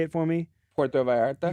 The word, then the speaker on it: Puerto Vallarta: Puerto Vallarta?